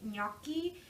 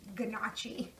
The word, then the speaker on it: gnocchi: like me okey but please the G is silent it is not under any circumstances pronounced Ghannouchi the italian and me